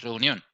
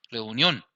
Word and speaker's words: reunión: Reunión. Porque tenemos el acento en esta sílaba, reunión.